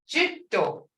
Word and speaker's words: Jitto: Ido versus jitto. Ido is tree or wood. Jitto, snake. Jitto.